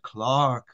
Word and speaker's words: clerk: with an e but in England they pronounce it Clark why we will never